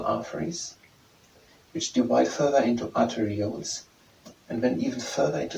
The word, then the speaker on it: arterioles: into arteries and then further in Arter at pronounced arterials arterial at arterials into arterials and then it